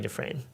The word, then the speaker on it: Dufresne: I'm trying to guess if you pronounce this Dufresne. Yes, Dufresne. Yeah, just like Andy Dufresne in Shawshank Redemption.